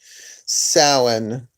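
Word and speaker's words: Samhain: autumnal equinox in September and then you have salan and that's the correct pronunciation salan close to Halloween but not exactly Halloween they're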